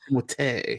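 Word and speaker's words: Timothée: Timotei.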